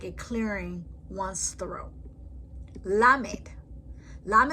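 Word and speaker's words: ל: Lamed is pronounced like an L in lucky.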